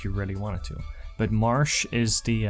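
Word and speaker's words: Marche: But Marsh is the, I think that's how you pronounce it, Marsh. March. I usually say Marsh.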